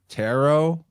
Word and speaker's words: tarot: Tarot, and say it without a silent T at the end.